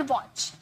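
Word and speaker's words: watch: याद रखिए टी के बाद सीएच आएगा तो टी साइलेंट हो जाता है। फॉर एग्जांपल वॉच काफी बार हम लोगों ने ये देखा है।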